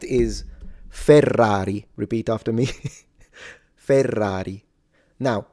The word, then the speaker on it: Ferrari: sound is the word ferrari because in Ferrari you have double r when you say fer that's double r but then single r.